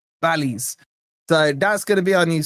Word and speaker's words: Bally's: Is it Borley or Bally? Bally's.